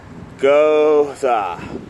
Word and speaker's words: Gose: are they call it Goa Goa that's how it's pronounced in the back and